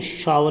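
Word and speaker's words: shower: ये क्या बोला जाएगा, शोर बोलते हैं कोई, शोर, ये शोर नहीं है, शावर ही बोला जाएगा, शावर, शावर मतलब खट्टा।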